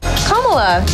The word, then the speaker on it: Kamala: the impact ms marvel had on the industry kamala khan was the first mainstream muslim superhero to